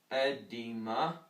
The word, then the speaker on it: edema: There's also an edema, I believe it's pronounced edema, but basically it's spelled E-D-E-M-A, but that's basically the scientific version.